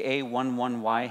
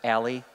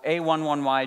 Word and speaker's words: A11Y: If you are on Twitter very often, you might see the A11Y hashtag come through, or A11Y, or some people pronounce it Ally. Jerks.